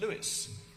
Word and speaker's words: Louis: own the second is from Louie or if you prefer the traditional English pronunciation Louis the 16th who said